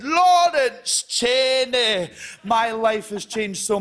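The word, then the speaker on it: Lawrence Chaney: used to do gigs people didn't know how to pronounce my name people would say yeah that's chorus laney or you know larry chansey and then all because rupaul said laurence cheney my life has changed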